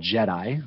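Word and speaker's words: GEDI: international space state station it's called jedi which is a great name it's spelled g-e-d-i uh it's the global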